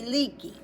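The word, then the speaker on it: Leakey: So, in the 1930s, Lewis and Mary Leaky Leaky is spelled L E A Ke. leak like you have a leak and then just add a ey.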